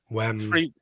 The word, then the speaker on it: Wembley: Wembley. There you go. 3 syllables.